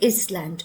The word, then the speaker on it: island: The next word is island. We never say is land because the S is supposed to be silent.